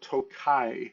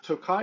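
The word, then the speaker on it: Tokaji: And the first thing we are going to talk about is a wine that is called Tokai. That is spelled T O K A J I.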